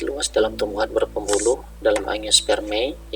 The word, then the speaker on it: angiospermae: Tanin di sini terdapat luas dalam tumbuhan berpembuluh dalam angiospermae. Ingat ya cara bacanya tadi, AE dibaca E gitu ya.